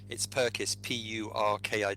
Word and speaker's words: Purkiss: By the way, just to make life easier for listeners, it's Purkiss, Purkiss. But I when I was a child, people pronounced it all kinds of different ways.